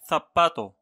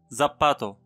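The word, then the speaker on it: zapato: حرف ثيتا. ثيتا لا ينطق مثل حرف زيد في اللغة الفرنسية، دائما ننطقه ثيتا. مثلا ثباتو. ثباتو حذاء. حذاء ولا يمكن أن ننطقه زباتو، فقط ثباتو لأن حرف زد لا يوجد في اللغة الإسبانية، وكان هذا آخر حرف.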